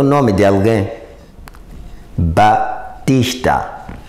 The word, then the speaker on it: Baptista: o nome de alguém Batista é a pronúncia mas a escrita temos aqui Baptista imagina se a gente